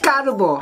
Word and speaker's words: 까르보: 까르보 불닭볶음며~~~~언 한국에서 새로 나왔어요 까ㅏ르보!! 네. 그게, 일본어에서 카르보나라잖아요. 카,카(일본어カ:ka와ga의 중간 발음) 발음 이잖아요 한국어에서는 된소리가 돼요.